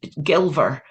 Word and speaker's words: Gilver: there I'll get well I'll give you a way to remember whether how to how to pronounce her name Belle because she's gilver uh that Gilly if you know about Scottish Country Estates a gilly or a gill is a servant usually out on the land and there is Latin